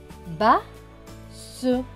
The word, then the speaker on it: basse: Deux S qui vont se prononcer S et E, S et E, se. Donc ce mot va se prononcer basse, basse. Vous voyez, base et basse, pas la même chose.